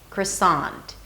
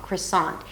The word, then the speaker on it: croissant: and a T, sant, croissant, croissant. The first syllable is really short and the second syllable is long, croissant.